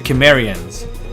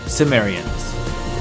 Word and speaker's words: Cimmerians: extremely hostile people on his northern frontier, the Cimmerians, also commonly pronounced Cimmerians.